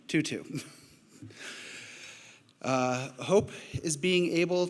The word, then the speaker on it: Tutu: words from Archbishop Bishop Desmond Tutu sorry I mispronounced that 2-2 uh hope is being